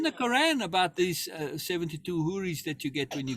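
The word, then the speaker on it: houri: But again, those huris, and they're called huris, which is where the word whore comes from, right?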